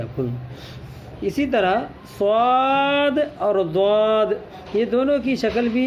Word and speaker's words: ض: نقطہ ڈالو تو ضا جس کو کچھ لوگ زوئی پڑھتے ہیں، یہ غلط تلفظ ہے، الف کے ساتھ پڑھا جائے گا تلفظ تو ضا۔ اور اسی طرح عین